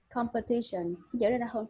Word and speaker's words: competition: Okay, competition. Chữ này mình không có đọc là pair, đọc là per.